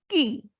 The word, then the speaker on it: qui: Next is Qui. The word is ki, meaning is who.